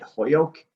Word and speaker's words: Holyoke: say our city well uh we say it holyoke uh it's spelled and you're saying it correctly h-o-l-y-o-k-e but